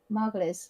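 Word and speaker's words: Margolyes: moment which is miriam mcgoyles margulis that's how you say her name no you know the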